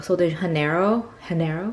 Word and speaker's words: Sol de Janeiro: But I also wanted to swatch the Rio Sunset from Sol de Janeiro, right? That's how you pronounce it.